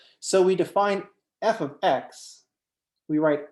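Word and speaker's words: f(x): that we use is f so we define f of x we write f is the name of the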